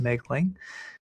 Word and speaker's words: Moegling: last name is spelled M O E G L I N G pronounced Megling.